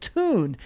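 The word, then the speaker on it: Thun: Well, I have one, and it's a cool company over in Italy called Tune. It's spelled T-H-U-N, but it's titled How Tune Created a Best-in-Class Loyalty Program for Its Customers.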